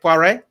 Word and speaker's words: Poiré: So welcome to the show, Poiré. I'm pronouncing it very well in French. Is that all right, Poiré? That was perfect.